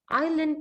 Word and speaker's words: island: the s yeah island the s is silent is that the question